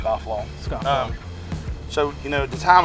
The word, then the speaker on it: Scofflaw: it's the weirdest thing like its phonetic like it's scofflaw yeah but I think even the first time I saw it I probably mispronounced it to try to try to fancy it up but when I fancy people so it's just scofflaw so you know the